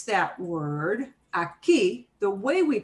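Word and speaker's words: aquí: see in blue in but the way we pronounce that word aki the way we pronounce it breaks the rule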